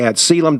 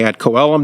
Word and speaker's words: ad coelum: phrase that Shan to the ad celum Doctrine or the ad coelum Doctrine people pronounce the Latin in different ways but basically the different